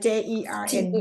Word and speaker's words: Jern: จะพัดเจิ้น ชื่อ ค่ะ เจินไหม พูดให้ เจิ้นไหม เจิ้น เจิ้น ใช่เจิ้น เจิ้น or you call her เจิ้น You'll have to spell it for me later, J Perry. like JERN ได้ไหม Oh, Yes.